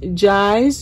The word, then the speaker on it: Jai: Her name is Jai's Journey, pronounced like Y.